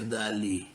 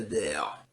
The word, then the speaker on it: Dale: Eu sei que parece ser dali, mas em inglês se pronuncia Dale.